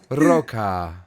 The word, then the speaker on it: ROQA: ROQA? ROQA.